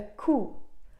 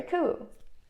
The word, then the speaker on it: coup: And this word comes from French, so many people mispronounce it. It's a coup, a military coup, and not coup. It's coup, yeah?